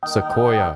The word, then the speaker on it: Sequoia: That's how you pronounce it? Sequoia.